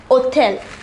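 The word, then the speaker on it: hôtel: however it is pronounced othell the hatch here is silent this is called a h mute for words that begin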